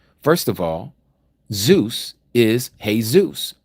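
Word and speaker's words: Jesús: First of all, Zeus is Hey, Zeus. You say Jesus. Our Spanish- speakaking brothers and sisters pronounce it correctly.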